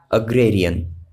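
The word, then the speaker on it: agrarian: इसका प्रोनाउंसिएशन याद रखिएगा, अग्रेरियन। अग्रेरियन का मतलब होता है कृषि संबंधी, भूमि संबंधी या फिर कृषिक।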